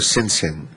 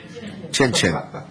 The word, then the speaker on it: Chin Chin: Is it Chin Chin or Sin Sin? Chin Chin. I apologize. No, I thought it was Sin Sin until I was corrected.